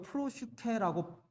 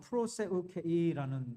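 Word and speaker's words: προσευχή: 한국 구글에 찾아보면 이 헬라어를 프로슈케라고 발음을 해놨는데요. 그거 좀 잘못된 발음이에요. 정확한 발음은 프로세우케이라는 발음이에요.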